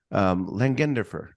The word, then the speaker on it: Langenderfer: Langenderfer.